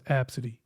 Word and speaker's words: Abcde: and the and the girl's name was absidy but but it was spelled AB B CDE e and looking at it